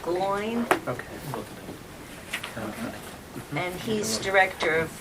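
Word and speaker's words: McGloin: last name uh MCG l o i n gloin okay and he's director of of uh traffic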